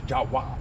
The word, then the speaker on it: Jawa: Jawa mosque, English, Arabic, and Thai. Jawa is how you say Java in Bahasa, Indonesia.